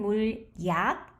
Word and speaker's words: 물약: It's written 물약, but when it's pronounced, it's 물약, which means liquid medicine.